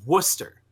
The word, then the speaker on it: Worcester: you a time stamp how do you think you pronounce this it's worcester oh yeah i was